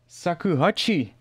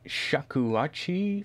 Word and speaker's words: shakuhachi: Sakuhachi. Well, that's not really how you pronounce it, but I know what you mean. You mean the flute, the Japanese flute. That's not a sakuhachi, that's a shakuhachi flute.